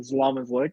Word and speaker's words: Zlomislic: yeah so quick introduction my name is solomonslick that is how you pronounce my last name and uh from Ottawa